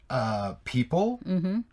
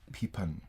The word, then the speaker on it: people: People. Sometimes I hear peepin. People. Simple.